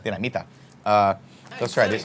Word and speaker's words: Dinamita: It's also possible that my mouth is now numb because of the chili limon dinamites. So good. Dinamites? How do you say? Dinamita. Dinamita.